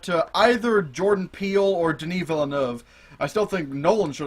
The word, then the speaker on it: Denis Villeneuve: him by his first name because I can't pronounce his last name, the director for Blade Runner. It's Denis Villeneuve.